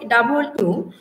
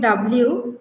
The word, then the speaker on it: W: অয় বয় ও এবং অন্তস্থ হয় ডবল এর উচ্চারণটা হচ্ছে ডবল ডাবল ইউ আমরা অনেকেই বলি ডব্লিউ ডাবল ইউ ডাবল এর উচ্চারণটা হবে ও বয়